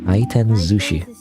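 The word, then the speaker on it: 回転寿司: Kiten zushi. Zushi. It'll say zushi though. Not sushi. Zushi apparently. Even though normally you just call it sushi.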